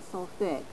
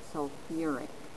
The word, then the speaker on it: sulfuric: phosphorus and for sulfur you do put back in that middle syllable so not sulfi but sulfuric acid and then fluide f